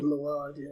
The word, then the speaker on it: Mylod: Yeah, is that how you pronounce the last name? Mylod, yeah, he did.